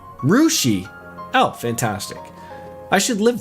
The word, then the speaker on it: Russia: And they also have Russia, Ohio, pronounced like Rushi.